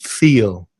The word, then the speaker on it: feel: So feel is a long vowel sound, E, the same as in sheep or see or me, so feel.